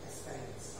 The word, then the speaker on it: experience: Experience. Okay. So here the X here is pronounced A. Experience. Yeah. Experience. Okay, so it's an A, it's an A.